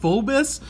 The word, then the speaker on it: Phoibos: I think it's pronounced foibles I've heard of pronounced Fobus but it has an O I in it so I'm gonna pronounce it foibles which kind of sounds